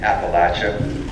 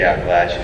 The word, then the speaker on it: Appalachia: is a specialist in southern history and in Appalachia that's how you pronounce it folks if you are if you live in Appalachia you say Appalachia we can always tell when there's an outsider